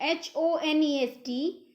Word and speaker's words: honest: to take care of silent edge so in h-o-n-e-s-t we pronounce it as honest it's not honest it